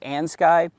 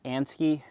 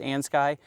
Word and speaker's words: Andsky: This is the Ans Sky. I've heard it pronounced Andsky. We're gonna go with Ans Sky S700.